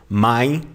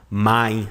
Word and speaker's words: mein: And these two letters, you don't pronounce them like in English. You don't say A or EI. No, you just say my, like this. My.